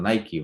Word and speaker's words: Nike: Bueno, Nike o Nike, ¿verdad? Dependiendo de cómo lo quieran pronunciar.